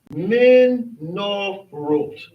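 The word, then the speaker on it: מנורות: This here is pronounced ot. So this would be menorot.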